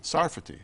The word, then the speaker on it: Sarfati: the point of the book and am I pronouncing your name properly is a safari safety sarfati sarfati in Hebrews sarfatis France all right society